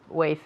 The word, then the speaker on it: weight: You lost less weight than you thought. Exactly. Pero weight, no weight. Weight. Se pronuncia exactamente igual que el verbo esperar, weight.